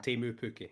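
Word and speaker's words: Teemu Pukki: The point is he was flinging crosses at Timu Pukki, right? Yeah. Or Timu Pukki, if I'm going to be a pronunciation guy.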